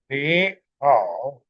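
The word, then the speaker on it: 你好: For example, ni, hao is read ni, hao.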